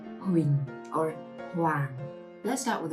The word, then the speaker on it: Huỳnh: This final consonant NH is just like the NG final consonant in English. So wing. And adding the consonant H. Wing. Now the falling tone. Do you remember how to say the falling tone? Right? Like you agree with someone. So Huỳnh.